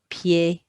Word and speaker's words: pieds: You're not going to hear any of those S's, by the way, did you hear? 2 grands pieds bleus, but you are going to write them.